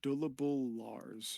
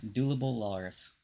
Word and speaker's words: Dulubul Larz: when I said it I'm just gonna write it how it's spelled how it's pronounced dullable Lars yeah dulable Lars okay I feel like